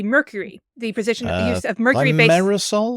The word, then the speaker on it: thimerosal: Thimerosal? Is that how you pronounce it? Yeah, thimerosal, which is the use of mercury as a preservative within vaccines.